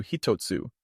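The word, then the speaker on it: ひとつ: exactly mirror Chinese pronunciations this kanji number one is typically read as Ichi however this pronunciation can alter when paired with different words for example when combined with the hiragana TSU it transforms into hitotsu signifying one piece this reading is used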